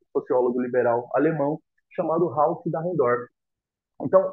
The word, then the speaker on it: Dahrendorf: O Dalenfort, que se pronuncia? Dahrendorf. Dahrendorf, perdão, que meu alemão tá meio destravado.